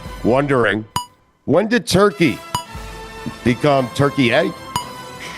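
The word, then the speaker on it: Türkiye: when did Turkey become Turkey-A? Yeah, I hate that. It's t u r k i y e. I like to t u r k e y, Turkey-A.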